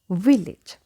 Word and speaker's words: village: to the previous word it's not vage so here also letter A doesn't have a sound it has I sound like we have in in okay so it is Village village Village so letter I also has it sound letter e also has e sound okay it is similar to image so village Village now the next word